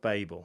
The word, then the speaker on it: Babel: Tower of Babel, that's how I've always pronounced it, yeah.